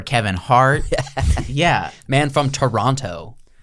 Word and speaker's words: Toronto: and he calls it Toronto the whole film every every Canadian was like if I learned from uh we don't call it what's his name Jordan Peterson Toronto that second T is silent and I don't think